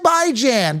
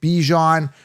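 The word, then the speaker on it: Bijan: It's by that's a proper way to pronounce it. He mispronounces it by calling it Bjon.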